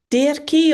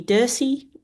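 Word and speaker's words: Dirce: Di or Dury. Um, D I R C E. I think that might be Dury.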